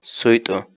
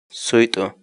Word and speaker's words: suyt'u: of videos where we teach you how to pronounce certain words in Quechua. So our word of the day for today is Suito. Suito. Suito.